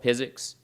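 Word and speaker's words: PyZX: ZX diagrams it's called physics pronounced like physics without the H um it's on GitHub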